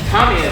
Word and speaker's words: Tamiya: Tamiya is Tamiya to the right pronunciation.